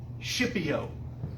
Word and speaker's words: Scipio: a guy named lucius not scorpio schipio which it sounds like s-h-i-p but it's actually s-c-i-p